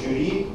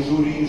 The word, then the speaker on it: жюри: долгий мягкий в жри правильный пример то французское слово и там нормативно До сих пор произносить жюри а не жюри жюри - это глагол